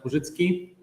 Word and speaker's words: Purzycki: So we are now moving to our second keynote talk by, and I will pronounce using the Polish version. So Benjamin Purzycki.